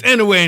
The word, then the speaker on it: Inoue: It's Anuke in Spanish, Anuke. but it's Inoue in English.